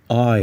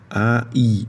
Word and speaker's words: I: um pronome em inglês que é o i i Então não é ih mas olha olha e